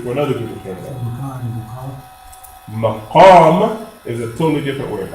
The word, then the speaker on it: مقام: The word that you're thinking of, I think, is maqam. Maqam. Qaf. Maqam. Say it, maqam. No, qaf. It's a heavy letter. Qaf, not cat.